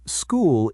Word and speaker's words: school: For example, school is short and common today, but its history is Greek. So, ch sounds like C.